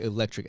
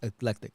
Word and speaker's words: eclectic: So thank you for saying it correctly, because a lot of people say electric edits. It's not. It's eclectic edits.